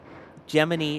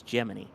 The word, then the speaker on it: Gemini: Gemini is the official pronunciation. Per NASA, the official pronunciation of the program is Gemini. Yes, it is Gemini.